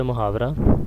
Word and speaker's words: محاورہ: یہ عربی زبان کا لفظ ہے محاورہ، جس کا صحیح تلفظ ہے محاورہ۔ لغوی معنی اس کے